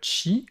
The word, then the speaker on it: qi: IN, ça forme verticalement Chi ou Ki, on peut prononcer des deux façons, QI, et en HAN.